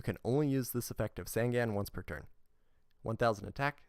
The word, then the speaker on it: Sangan: today years old so sangan as i used to call it should be pronounced sangan like the number three and then gone means eyes so this guy is